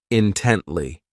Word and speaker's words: intently: ridiculous next is intently this adverb has three syllables and the stress is on that second syllable intently so this word means